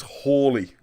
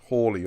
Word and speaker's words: Halley: about, for a start, everyone calls him Halley, alright? Halley's Comet. According to Alan Wilson, and he's always right on these things, although I don't know how you possibly check this, the correct pronunciation is Hawley.